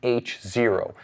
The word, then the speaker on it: H0: Okay, up next, the HYT H0. And yes, get your mind out of the gutter, it is pronounced H0.